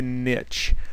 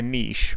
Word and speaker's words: niche: a way to find a niche or a niche whichever way you want to pronounce it uh to position your